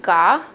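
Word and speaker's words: gà: they do have a chicken which is pronounced gaa in vietnamese they also have a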